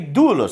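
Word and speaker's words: δοῦλος: Então você tem doulos, servo. Qual a sílaba tônica? A sílaba tônica é a paroxítona.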